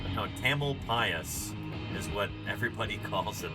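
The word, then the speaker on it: Tamalpais: is it should be like Tamal P Mount tamel pasas is what everybody calls it that's how it's pronounced Mount taml pasas um known locally as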